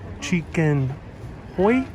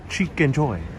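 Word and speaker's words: Chickenjoy: It's home of the famous, ooh, how do I pronounce that? It's a weird Italian word. It's a strange Italian word. Chicken hoy? Oh, chicken joy. Chicken joy. Ooh, okay. Beautiful, beautiful Italian specialty. I haven't heard of the chicken joy. Chicken joy. Chicken joy. Okay. That's how you pronounce it.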